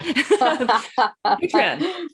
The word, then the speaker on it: Patreon: Patreon, right? There rhymes with patron.